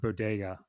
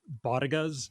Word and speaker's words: bodega: I also love that later in the sketch they just mispronounced the word bodega. I think they call them bagas or something like that.